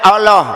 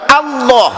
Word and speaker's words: Allah: Wa fakhimil lama min ismillahi, apabila ada lam jalalah menyandang harkat fathah, maka dibaca tebal. Tidak boleh Allah, tidak boleh Allah, harusnya dibaca tebal Allah.